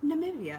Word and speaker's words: Namibia: star um and then I had learned that I was also pronouncing it kind of wrong so I can I've been practicing all week I can now say Namibia hopefully perfect it's perfect as I'm going to get I hope um but anyway I